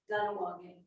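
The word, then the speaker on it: Kahnawake: Ganawagi. It's Ganawagi. written with a K, but they pronounce the K as cheese.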